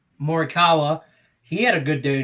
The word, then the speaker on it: Morikawa: my collin how you say his name again morikawa morikawa he had a good day today uh he's